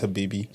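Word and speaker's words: حبيبتي: So yes, like the way I would say it is HABIBTI. It's HABIBTI. It's the feminine way. Okay. So there's like in Spanish, Arabic has masculine and feminine words. So Habib, the one I can't pronounce because of the T's, is just the feminine version of Habibi.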